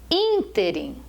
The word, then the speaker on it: ínterim: a palavra é gratuito ínterim veja que têm assento é uma pro paroxítona não é ínterim é ínterim a palavra não é